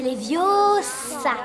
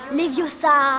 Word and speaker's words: Leviosa: C'est Leviosa. Et pas Leviosa.